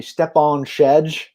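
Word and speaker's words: Stjepan Šejić: I'm going to go with the pronunciation you told me, Stepan Shedge, like Sean Connery.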